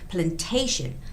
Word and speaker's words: plantation: And the word plantation has the stress on A, the second A, which is plantation.